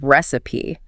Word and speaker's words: recipe: The pronunciation is resi stress on the first syllable.